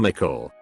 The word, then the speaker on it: Mickle: And for whatever reason some of the other kids called him Mickle, pronounced like pickle.